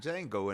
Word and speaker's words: Django: I'm about to be like old boy from Django in a minute, you know. The D is silent.